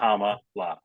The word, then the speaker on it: Kamala: to respectfully remind you how to pronounce her name comma like comma no comma like Comm La there you go um